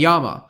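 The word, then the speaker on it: やま: In Japanese, the most common pronunciations are san, derived from the Chinese, and yama, which is the native reading.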